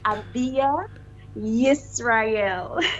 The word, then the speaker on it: AbiYah Yisrael: So this is how my name is pronounced. Abia Israel.